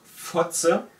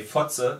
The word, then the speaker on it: Fotze: There's this word Fotze. Yeah, that's pretty good. That's pretty harsh. When you say Fotze, it means cunt, and it's spelled F-O-T-Z-E.